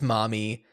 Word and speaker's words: Marmee: look into why it's Marmee? I read probably on Wikipedia or something that it was likely intended to be pronounced mommy, but because of the dialect, Mommy.